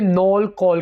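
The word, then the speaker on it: knol-kohl: गांठ गोभी को इंग्लिश में नोल कॉल कहेंगे, नोल कॉल। यहां पर हम के को जो शुरू में है इसको साइलेंट रखेंगे, नोल कॉल।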